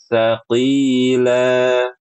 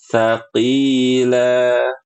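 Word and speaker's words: ثقيلا: Nah, huruf tsa sama huruf dzalupakan huruf yang tipis. Jadi enggak boleh kita bacanya kayak gini, Ibu-ibu. Saqqila aartahum enggak boleh. Kenapa? Karena huruf tsa dan huruf dzal adalah huruf yang ti tipis.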